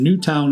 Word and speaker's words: Newtown: doing great jobs down in Newtown Indiana old 55 not Newton I said Newton last time I got grilled up I'm incorrect new towel